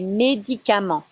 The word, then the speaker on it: médicaments: Les médicaments. Again, no stresses in French. It's all the same.